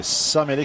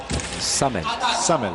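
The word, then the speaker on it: Samele: Donc c'est Samuele qui prend. Ouais. C'est Samuele ou Samel? Samel, voilà, pour être plus précis sur la prononciation des noms.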